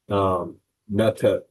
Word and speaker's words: metet: The word medu or the lexeme starts to become pronounced, or forms of it become pronounced metet, which is very close to Hebrew mateh, and which is rod,